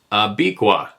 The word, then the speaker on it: Abiqua: Pronounced Abiqua.